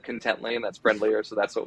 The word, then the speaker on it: Contently: it pronounced contently is that uh originally it's pronounced contently everyone said content Lane that's friendlier so that's what we went with